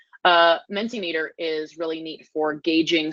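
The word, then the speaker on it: Mentimeter: forward is minty meter my pronunciation was recently corrected I was calling it mint immature apparently it's and then sin meter meant a meter I still want to say mint ammeter it's fossilized menti meter is really neat for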